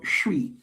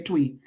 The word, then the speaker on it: Twi: Amongst the Aan people, the language is called Shu. It's spelled T twi, but like shwin bicycle, it's pronounced. So whenever you see twwi, I know you want to say tweet, but it's the name of the language.